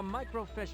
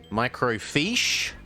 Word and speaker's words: microfiche: of information except that it's spelled f-i-c-h-e uh micro fish and they're punning on that being fish so that's a micro fish instead of a micro